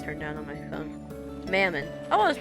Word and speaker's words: Mammon: Mammon, I was, wait, hold on, I'm gonna get the pronunciation. Wait, my volume's turned down on my phone. Mammon.